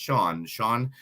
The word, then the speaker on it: Sian: You can find them online at Sean Sushi, which is SIAN, but it is pronounced Sean Restaurant.